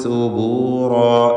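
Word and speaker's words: ثبورا: യദ്ഉ സുബൂറാ റാ തഫ്ഖീം ചെയ്ത് ഉച്ചരിക്കുക. അതിൻ്റെ അലിഫിലും തടിപ്പിക്കൽ വേണം.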